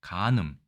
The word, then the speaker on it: 姦淫: 일단 도금은 간음이라고 읽습니다. 간음, 부정한 성관계를 한다 이렇게 되어 있죠.